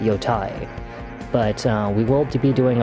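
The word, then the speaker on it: Yōtei: out there it's pronounced Yotei. Okay, it is pronounced Yote. They actually say it in the game, Yote. But I think it just sounds dumb, so I call it Yotai.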